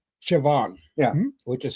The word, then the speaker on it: Siobhan: There's like there's an Irish name, Siobhan. Yeah. Which is spelled S I O B.